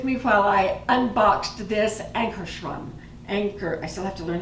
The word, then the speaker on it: Ankarsrum: So thank you for being with me while I unboxed this Ankarstrum. I still have to learn how to say it. Ankarstrum.